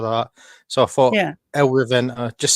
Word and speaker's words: El Reventa: Now, El Reventa, is that how you pronounce it?